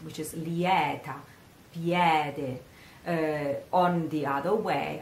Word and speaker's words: lieta: South they say it much correct which is Liette yet on the other way on the other